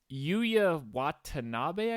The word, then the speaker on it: Yuya Watanabe: Yuya Watanabe, I think. Yes, that's the correct pronunciation.